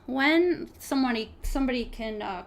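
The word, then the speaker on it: Nguyen: I'm not sure how to speak Vietnamese, but I think how you pronounce the last name is Wen. Wen.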